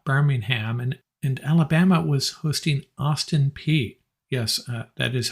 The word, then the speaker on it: Austin Peay: LSU was hosting University of Alabama, Birmingham, and Alabama was hosting Austin Peay. Yes, that is how you pronounce it. I had to look it up. Austin Peay.